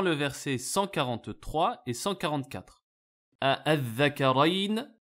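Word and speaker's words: ءَآلذَّكَرَيْنِ: Al-Dhakarayn, dans lequel on peut prononcer soit avec ce qu'on appelle l'ibdal, la hamza a été transformée en alif, donc une prolongation, et lorsque c'est suivi d'une soukoun, donc c'est al-mad, al-lazim, al-kalimi ici, al-muthaqqal, puisqu'il y a une shadda.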